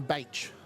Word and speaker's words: Baich: Just going to get pronunciation on this last one. Benjamin Baich.